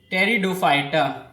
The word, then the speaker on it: pteridophyte: are called they are terry do fighter in this p is silent next point roots of